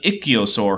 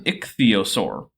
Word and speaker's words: ichthyosaur: an ichio sore huh so I'm actually not all that picky about pronouncing scientific names my rule of thumb is give every consonant and vowel a reasonable pronunciation and don't skip any of them this is an ichthyosaur